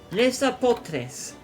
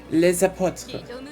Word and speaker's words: Les Apôtres: I would get the Lesa Potres. I'm saying it. I think I'm pronouncing it Spanish, but it's French. Les apôtres. Lesa Potres. C'est français.